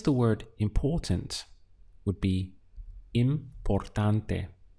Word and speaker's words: importante: To express the word important would be importante. Let's count the syllables. We have im, por, tan, te.